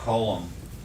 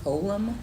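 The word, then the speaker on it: חוֹלָם: And that's called a holum. Can you spell it? No, Okay. It's called a colum, a holum, you can just say holum. holum. With an H.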